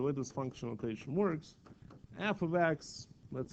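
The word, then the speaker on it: f(x): the way you pronounce this left side it's pronounced as f of x so this is how you say that it's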